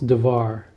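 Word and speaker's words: דבר: But it's interesting that in this passage we're going to have dvar, which is the word thing.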